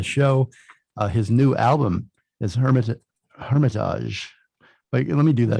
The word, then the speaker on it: Hermitage: His new album is Hermitage. Wait, let me do that again. So I looked up, it's Hermitage or Hermitage? I always say Hermitage.